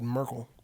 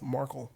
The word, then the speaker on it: Markle: Oh, they just did Merkel. I did. Is that not how you say it? I thought it was... It's Markle.